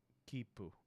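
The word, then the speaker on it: きっぷ: When you see the small, you don't pronounce it as tsu. Instead, you treat it as a very brief pause before pronouncing the consonant. So what was it? Kipu.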